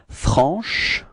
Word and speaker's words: franche: So I insist a little bit on the sh at the end, but that's just the idea, you know, to show you how you should pronounce it, okay? But then it should be pronounced like franche.